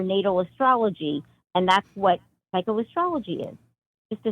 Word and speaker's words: psychoastrology: the first time I've ever heard this word, psychoastrology.